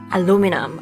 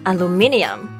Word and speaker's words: aluminium: British Alum Alum aluminium so this word has a different number of syllables in American version and the British version right four in the American pronunciation A and five in the British pronunciation uh Lin e um they are spelled slightly different too with the British version having an extra I aluminum aluminium wow they